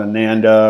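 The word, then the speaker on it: Oanda: i would recommend uh awanda that's how i pronounce it i think some people might call it ananda or whatever but uh awanda o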